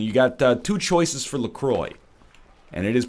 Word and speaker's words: LaCroix: Whole Foods and you got two choices for Lacroix and it is pronounced Lacroix much to my chagrin even though I think it should be pronounced Lacroix do you take lemon you take lime and